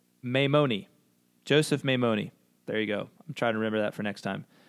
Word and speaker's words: Maimoni: So it's Maimoni, Joseph Maimoni.